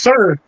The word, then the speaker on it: Sur: it's pronounced it's spelled sur, but it's pronounced sir, right?